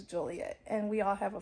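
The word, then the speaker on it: Joliet: kept calling our city juliet our city is not juliet it is juliet and we all have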